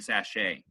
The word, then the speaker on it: sachet: to sell well now accent mark on sachet they're only two syllables so is it the first or the second syllable really where does it show it on the first one yes you're right it's